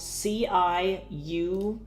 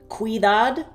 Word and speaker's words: ciudad: It's spelled C-I-U-D-A-D, ciudad, right? And you pronounce every letter, right? So it's ciudad, right? That's pretty much how that goes. Whereas in English, that could potentially be like cuidad, cuidad.